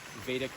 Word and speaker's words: Vedic: So I teach a practice called vadic meditation that's spelled v e d i c and vadic comes from the word veta and veta is